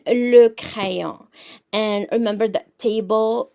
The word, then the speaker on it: le: So this is how we pronounce it, le.